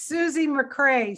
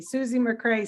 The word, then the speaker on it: Susie McRae: all the time it's susie mcrae star of the day that's how you remember it that's what a friend of mine calls me susie mcrae star of the day